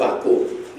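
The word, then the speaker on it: Vacco: And we had a shop called Vaco. Not how you spell it, but it was spelled V-A-C-C-O.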